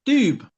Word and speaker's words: double: The value of the coin is 8 doubles, pronounced doob. Doob?